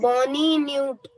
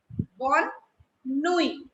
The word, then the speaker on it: bonne nuit: Bonne nuit. Everybody remember that this T in the end is silent.